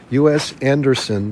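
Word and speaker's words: U.S. Andersen: want to look into US Anderson's three magic words that's a great one US Anderson that's a n d e r s n us like the USA so us Anderson's three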